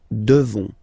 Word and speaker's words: devons: You just pronounce this on, O-N, this nasal, okay? And then the S, final S is not pronounced. Nous devons, nous devons, okay?